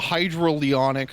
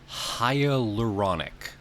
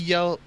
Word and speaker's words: hyaluronic: The hydroleonic serum sounds like it makes sense, so I'm going to go with the... I think I mispronounced it. It's hyaluronic. That's what it says. Hyaluronic. Hyaluronic. Okay.